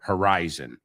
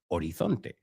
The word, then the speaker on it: horizon: Deepwater Horizon. Horizonte. Se pronuncia la H, horizon. No ho, ha, horizon.